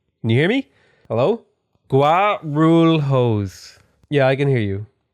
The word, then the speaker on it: Guarulhos: I'll ask you to just pronounce the city's name because I'm fucking tired of not knowing. Guarulhos. Guarulhos?